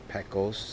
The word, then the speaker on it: Pecos: Pecos, if I'm pronouncing it right, Mhm.